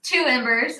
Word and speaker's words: iiembers: is it i i ambers got started yes two embers um remember is that how you say it